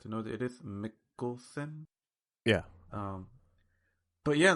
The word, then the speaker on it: Mikkelsen: But I guess I'm glad to know that it is Mikkelsen.